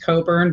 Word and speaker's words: Cockburn: whose last name is spelled cockburn but i think it's actually pronounced coburn but when you're doing